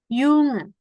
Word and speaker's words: Jung: Dibacanya kayak huruf Y. Contohnya nih, Jung, Jahr. Jadi bukan J, tapi bacanya kayak Y.